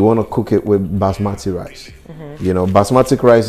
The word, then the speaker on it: basmati: to cook it with basmati rice you know basmatic rice is everything you keep saying it wrong it's not basmatic it's like you're saying the rice is asthmatic no that's it it's